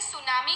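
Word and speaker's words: tsunami: जाता है यह इससे सुनामी कहा जाता है पहली दृष्टि ऐड न्यू नोएडा मे तूनामी रीड हम सुनामी करते हैं पर आगे जो टीम होता है वह साइलेंट है तो आपको जहां पर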